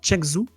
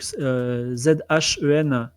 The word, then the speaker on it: Zhengzhou: Et le billet est au nom de Giovanni Telkmar pour une destination en Chine qui s'appelle alors il faut que je le prononce bien, Chengzhou, donc Zhengzhou.